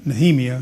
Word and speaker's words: Nehemiah: There's a gentleman named Nehemiah which they pronounce Nhemia of course.